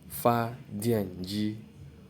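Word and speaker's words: 发电机: So it's pronounced as fa dian ji.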